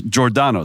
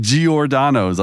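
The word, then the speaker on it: Giordano's: an Italian background is jordano it's like a j sound right but here in Chicago everyone's like giordanos I'm like that's weird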